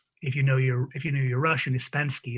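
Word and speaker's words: испанский: you know your Russian, Ispansky is how you say Spanish.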